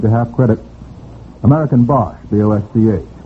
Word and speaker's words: Bosch: American Bosch, B-O-S-C-H. Bosch Magneto, would that be right? American Bosch. Is that pronounced Bosch? I think it's pronounced Bosch, yes.